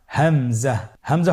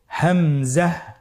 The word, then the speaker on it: হামজা: পরবর্তী হরফটির নাম হামজা। হামজা হরফটি উচ্চারণ ক্ষেত্রে বারিক করে উচ্চারণ করতে হবে এবং এখানে টেনে পড়া যাবে না। দ্রুত পড়তে হবে। আপনারা আমার সাথে বলুন হামজা হামজাহ হামজা হরফটি উচ্চারণ স্থান হা এর মতই।